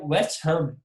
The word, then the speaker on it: West Ham: E aí é West Ham. A tônica é no Ham. E agora, cara, Paulo Andrade, todo mundo fala West Ham.